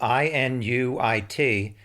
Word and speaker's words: Inuit: use the word eskimo apparently one of the words you're supposed to use is inuit not inuit it is spelled i-n-u-i-t and describes the people from that region and apparently it's pronounced inuit although i'm probably messing that up too no offense but at